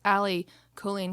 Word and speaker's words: Allie Colleen: we have these rad tank tops and it's ali colleen colleen colleen colleen and on the back it's